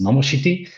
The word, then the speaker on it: Nomoshiti: So it's pronounced Nomoshiti. It sounds very Japanese, of course.